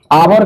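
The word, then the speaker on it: hour: गलत है क्योंकि आवर का उच्चारण उच्चारण यानी प्रोनाउंसिएशन जिसको हम आप कहते हैं हिंदी में औ होता है। आ होता है। इसलिए इसके पहले एन का प्रयोग होगा ए का नहीं।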